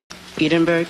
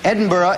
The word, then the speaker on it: Edinburgh: Edinburg. Edinburgh is right.